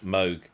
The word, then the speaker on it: Moog: seen her desk instead instead of it's saying Michelle Moog cusa on her name plate on her desk it just says as in Vogue yeah that's a